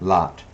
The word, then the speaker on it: Lamlot: Lamlot. Oh, lamb. Okay. Lamb, like bah. Is that lamb, sheep, lamb? Yeah, something. But he doesn't say that. I'm just saying that for pronunciation.